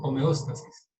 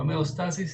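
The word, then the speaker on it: homeóstasis: No homeostasis, sino homeostasis. ¿Quién fue la que dijo eso? Laura. Homeostasis. Entonces, las características del sistema, que una de ellas es homeostasis, otra es, otra es finalidad. Entonces, para que tengan en cuenta la pronunciación. La tilde. Por eso es importante poner tildes, porque homeostasis tiene tilde y entonces por eso se pronuncia de esa manera.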